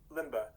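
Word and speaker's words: Lemba: but that african group lembe is that how i'm pronouncing it uh limbaugh l-e-m-b-a the limba um so that group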